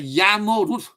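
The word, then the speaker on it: Jarmo Ruuth: This is our, because he's from Finland, we pronounce his name as Jarmo Ruth, well known as amateur astronomers from Finland.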